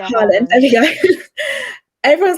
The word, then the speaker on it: Haaland: Haaland, how do you say his last name? I don't even know. Haaland, I think. Right, Haaland.